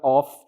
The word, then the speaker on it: of: Não vamos confundir com a palavra off, que significa desligado. Então, ele tem o som de V, assim.